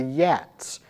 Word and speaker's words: Geats: We have the Geats, now I'm going to pronounce that " G"as if it is a "Y" because in Old English that's actually what would have been you may have heard